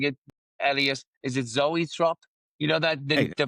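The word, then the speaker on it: zoetrope: Is it Zoatrope? You know that the the vinyls the vinyls when it kind of it makes Kylie dance. You knew the How do you pronounce it? It's Zoatrope. Zoatrope.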